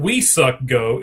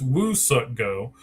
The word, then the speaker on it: Woo Suk Go: It's not we suck go, it's Woo suck go. Um, and they actually Oh, so they gave him to the twins. The twins. The twins now have Woo suck go.